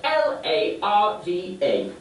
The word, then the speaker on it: larva: no it's a different kind of lava and it's spelled differently spelled l a r v a oh larva yes then what happens is a